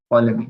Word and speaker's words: Ptolemy: It is spelled as Ptolemy. Ptolemy.